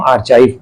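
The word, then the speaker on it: archive: Place keeping public records, ठीक है, एक ऐसी जगह जहां पर पब्लिक रिकॉर्ड रखा जाता है, उसको हम आर्काइव बोलते हैं, आर्चीव भी बोलते हैं, डिफरेंट प्रोनाउंसिएशन होता है।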